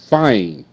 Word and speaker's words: fine: Fine. F. I. Fine. Fine. Fine. E is silent.